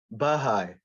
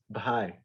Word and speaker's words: Baha'i: for in america like we'll see the the the word pi b h a i and we'll say baja like the religion but it's baha'i okay that should be one syllable one long syllable okay nice any other